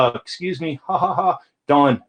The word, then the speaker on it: Don: Don, not Dan. And, that every once in a while I get called Dan.